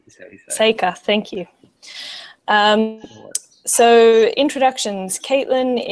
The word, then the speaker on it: Sakr: Sakr. Sakr, thank you.